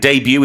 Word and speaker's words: debut: And debut is one of those words that tries to fool you with its T, D-E-B-U-T. The T is silent because it comes from the French.